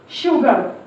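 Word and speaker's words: sugar: यू ji shook shook S के बाद जब यू आए तो हमेशा वो शब्द चेंज हो जाएगा। एस एच श साउंड देगा एस यू जी शुग ए आर अर शुगर शुगर आई एन इन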